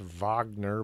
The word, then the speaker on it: Wagner: was written by Richard Wagner I know it's pronounced Wagner but it's spelled with a W so I pronounce it Wagner it's like Warner von